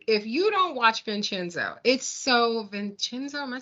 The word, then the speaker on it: Vincenzo: Listen, I'm gonna tell you, if you don't watch Vincenzo, Vincenzo.